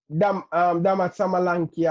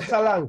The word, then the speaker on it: Solanke: Say my name properly. Say it over. Say it over, please. Say it over. Dominic Samalanki away, man. Salanki. Dominic. But no, Dominic. Dominic Salanki. Yeah, Dominic Salanki.